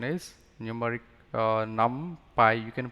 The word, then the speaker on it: NumPy: for numerical python the pronunciation is numeric uh num Pi you can pronounce it as numpy or some people also